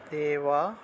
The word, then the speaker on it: দেবা: জ্ঞানাম তাম্মা দেওয়া দেবার উচ্চারণটা হবে দেওয়া বা এটা আমি যদিও লিখি তাহলে দেওয়া এভাবে উচ্চারণটা হবে ঠিক আছে দেওয়া অনেকে দেওয়া দেওয়া লিখে বলে ফেলবেন এটা দেওয়া হবে না এটা হবে দেওয়া দেওয়া অন্তস্তব দেওয়া বিয়ধ